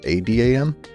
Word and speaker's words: Aadam: but that's about it one very big case is my name it's actually spelled a a d m but I have to go in and manually change the spelling to the normal which is Adam in order for you to actually say it right that's impressive we apologize